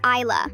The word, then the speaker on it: Isla: Her name is Isla, like the word I.